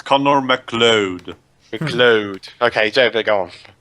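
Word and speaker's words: MacLeod: Okay, Yeah, so basically you're pronouncing it wrong, Dweebs. It's Connor McLeod.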